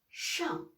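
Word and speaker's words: 上: Donc, la prononciation, c'est shang. Shang. Voilà, quatrième ton.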